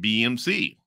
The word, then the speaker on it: BxMxC: what the song means BMC pronounced BMC is a song by